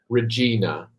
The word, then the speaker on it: Regina: Regina. It would be the way I would pronounce it because it is a Latin word for queen.